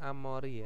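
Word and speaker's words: 앞머리: adalah e halaman depan terus ada amori bacanya amori Ya jadi rambut depan bisa diartikan dengan poni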